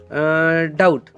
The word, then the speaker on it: doubt: और उसके बाद में डाउट, DOUBT, डाउट, इसमें टी के पहले कौन आया है? बी। तो टी के पहले अगर बी आता है तो उसको बिल्कुल ही प्रोनाउंस नहीं करना। ये बी देखो, यहाँ पे टी के पहले कौन आ गया है? बी। तो बी को बिल्कुल आप यहाँ पे प्रोनाउंस नहीं करोगे, सीधे सीधे बोलोगे डाउट।